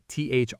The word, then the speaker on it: through: The word through is spelled T-H-R-O-U-G-H, but pronounced through.